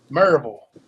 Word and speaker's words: Maryville: It's sort of like saying Louisville, Maryville. You got that pull to it, that draw, I guess.